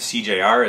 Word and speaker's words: SeeJayAre: address that too um my YouTube name is cjr it's cjr for everything PSN Xbox it's just my initial it's just cjr but it's spelled out s e e j a y a r e so I guess I